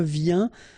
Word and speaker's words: viens: Je viens, final S not pronounced, okay? And when you combine this IEN, you get this yin, yin.